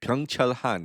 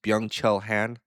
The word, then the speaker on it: Byung-Chul Han: Or Burnout Society by my fellow Korean in Germany, Byung-Chul Han. That's how you say it in Korean. Or if I how do I say it in English, Byung-Chul Han.